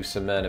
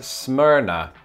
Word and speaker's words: Smyrna: was a kid and i think it is smyrna okay i couldn't find much information on this except for a forum post from 2012 where a user says that locals pronounce it as smyrna so if that person's